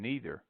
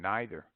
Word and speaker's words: neither: taking either way but favor seems to lean towards either and neither though following the analogy of the German E.I I prefer either and neither there is also a